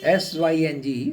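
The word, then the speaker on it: Synge: तो हमारी ये जो जॉन मिल्टन सिंह थे सिंग से सिंह इसको प्रोनाउंस किया जाता है सी एन जी के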